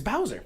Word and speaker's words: Bauza: That is a very talented man by the name of Eric Bauza, I think is how his name is pronounced. Bowser. He's a good guy. Bowser, yeah. Dude, it's Bowser.